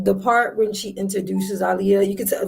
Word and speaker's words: Aaliyah: Her name is Aaliyah, not Aaliyah. Ali, like Muhammad Ali, Aaliyah, not Aaliyah.